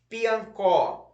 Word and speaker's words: Piancó: Piancó. Um tracinho embaixo da sílaba có.